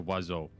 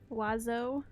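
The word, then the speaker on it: oiseau: oh dewey and then like bird is a wazzo wazzo and it's spelt so stupid like here i'll i'll spell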